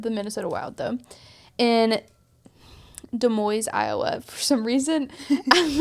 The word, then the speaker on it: Des Moines: In Des Moines, Iowa, for some reason, I was like, I know that it's not said like it's spelled, but I can't.